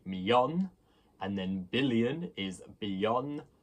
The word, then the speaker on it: millón: But there's no second I, because double L in Spanish is the y sound. It is the sound you hear in million if you just say it really quickly. You say million. And the accent on the O, of course, means a stress.